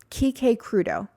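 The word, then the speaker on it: Quique Crudo: I'm going to spell it for you because the way it sounds is not the way it's spelled. Krudeo.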